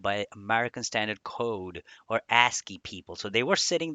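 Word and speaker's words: ASCII: first of all stands for or it is pronounced as asky and it stands for American Standard code for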